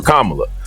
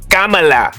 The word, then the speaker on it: Kamala: up with reasons why I wouldn't vote for kamla lemon disrupted the answer to correct the man's pronunciation of the vice president's name Kamala right which you know you know if you